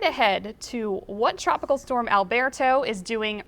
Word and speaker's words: Alberto: Tropical Storm Alberto, or Tropical Storm Alberto to pronounce it properly, has formed in the southwestern Gulf of Mexico.